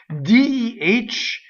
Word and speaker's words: deh: DEH is an interjection. It's a strong monosyllable and it's open.